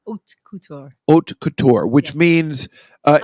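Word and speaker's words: haute couture: what is it hot cout how do you pronounce it hot Couture OT Couture OT Couture which means uh it's not it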